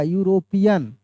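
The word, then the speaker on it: European: तो भले यहां पे ई से लिखा हुआ है लेकिन इसका प्रोनाउंसिएशन कैसे होगा? ऐसे होगा। यूरोपियन। मैं इसको बताया भी था मेरे दोस्त। य से हो रहा है।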